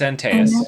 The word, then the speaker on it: Antaeus: I don't know how to pronounce it. Greek names are hard, guys. Oh, it's Antaeus.